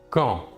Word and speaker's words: quand: quand il se prononce quand la D finale ne se prononce pas quand sert à poser